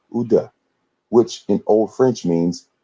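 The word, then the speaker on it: Ouidah: were sold was called UDA which in old French means Judah Africans living there today pronounce the name of their city in their language as Judah just as the word Judah in English the remains of the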